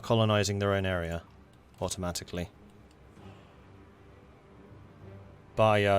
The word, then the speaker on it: Bahia: Bahia is pronounced without the H.